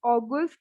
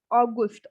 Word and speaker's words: August: Next is August. So again, we have the same spelling, but the only difference is of the Aussprache. August, August. It's not August. It's August or August. It's August, Gust.